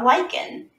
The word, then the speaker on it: lichen: This kind of living organism is called a lichen. Lichen rhyming with like going hiking.